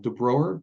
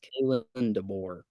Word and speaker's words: Kalen DeBoer: And the dude from Washington, former head coach, and I might be saying his name wrong. DeBroer, is that right? I think it's Kalen DeBoer. Kalen DeBoer, yeah.